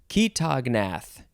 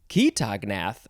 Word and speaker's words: chaetognath: Okay, next we have ketognath. Ketognath, I think that's how it's pronounced. It is spelled Chaetognath.